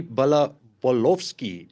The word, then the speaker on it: Balkovsky: And then his host in Russia, Dmitry Balkovsky. I'm hoping I'm pronouncing that right, Dmitry.